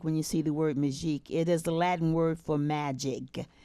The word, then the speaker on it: Magique: And I'm an inventor of a product called Magique 4.